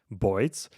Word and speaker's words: boids: I just Google for it or search on the internet for it, and boids is because of birds, how the New Yorkers pronounce birds, boids.